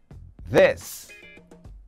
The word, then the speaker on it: this: This. Repeat. This. Com a língua entre os dentes, né? Vozeado. O TH vozeado.